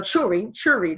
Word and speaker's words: Shuri: Now, Shuri, who is a Churi, that's how they pronounce it, Churi, whatever.